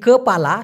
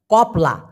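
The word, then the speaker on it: kepala: অনেক বাংলাদেশি ভাই বোনেরা মালয়েশিয়াতে দেখবেন এই কপালা শব্দটিকে বলে কপালা, কপলা। এটা ভাই মালয়েশিয়ানরা পিছনে পিছনে হাসাহাসি করে, সামনাসামনি না করলেও, কিন্তু বাস্তব কথা বলতে এটার সঠিক উচ্চারণ হবে কপালা।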